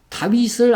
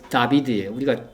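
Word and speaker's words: דָּוִד: 그래서 이게 여러분 여기 이제 이런 모음은 없는데 이게 히브리어로 읽으면 다비드예요. 우리 성경에는 다윗으로 표현됐죠. 그렇죠? 이 다비드란 말이죠. 원래는 정확하게 다윗은 발음 그대로 하면 다비드입니다.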